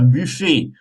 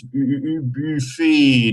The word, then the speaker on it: buffet: Dans la salle à manger, il y a une table, une chaise, chaise, un buffet, turn a little circle with your lips, buffet, don't pronounce the T at the end.